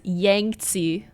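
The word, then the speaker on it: Yangtze: rivers in China, like all of my teachers pronounced it as Yangty, like Yangi, but you know, with a Z noise in the middle there.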